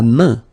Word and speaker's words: main: La main. La main. So this combination A-I-N is quite interesting because it will give you the sound un. So it's really a nasal, it goes in your nose, okay?